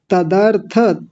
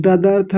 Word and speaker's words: तदर्थ: तज्जपस तदर्थ, तदर्थ आप कुछ और बोल रहे हैं, ददर्थ कुछ पता नहीं क्या क्या बोल दिया आपने।